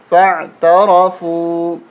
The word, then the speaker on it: فَاعْتَرَفُوا: پڑھتے ہیں۔ فَاعْتَرَفُوا بِذَنبِهِمْ فَعَيْن زبر فع، تا زبر تا، فَعْتَ، را زبر را، فَعْتَرَ، فا واپش فو، فَاعْتَرَفُوا، با زیر بھی، ذال